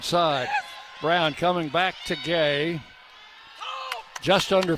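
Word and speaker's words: Gueye: Guy commits the foul. That's her third. I think I'm mispronouncing her name. I think it's supposed to be Gay instead of Guy. It's spelled G-U-E-Y-E.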